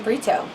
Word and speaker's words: Brito: Hey everybody, full name, and last name Brito, like that burrito.